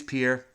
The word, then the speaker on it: Pierre: And it looks like Pierre, but I've been told it's Pierre.